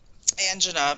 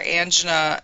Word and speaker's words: angina: have to pronounce it you have to pronounce angina like this community does because people don't people who work in health care do not pronounce it angina that's the way the community says it so now you have